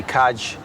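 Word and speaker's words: caid: Well, the ancient word in the Irish language for football in the south of the country would be kaj, which is spelled c a i d, which is the Irish word or the old Irish word for a pig's bladder.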